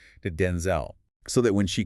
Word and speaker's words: Denzel: In a 2025 appearance, Washington shared that the correct original pronunciation of Denzel is actually with the stress on the first syllable. So, Denzel.